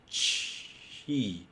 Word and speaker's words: ち: So it's not t, but rather chi. Because it got like a turn, okay? You can't use t and then go to e. So three, then it becomes chi. So it's chi, okay?